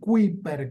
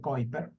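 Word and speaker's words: Kuiper: que vienen de el cinturón de kiper el cinturón de ciper que así se escribe pero se dice kiper ese cinturón también genera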